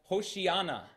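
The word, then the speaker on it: הושיעה נא: save us we pray if you were to pronounce that in Hebrew it would sound like hoshii Ana Hosanna there's there's crying out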